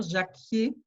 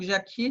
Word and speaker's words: Jacquier: appelle le bol d'air jacquier donc jacquier s'écrit jia sécu y ait eu un air comme jack au début mais avec i er le bol d'air jacquier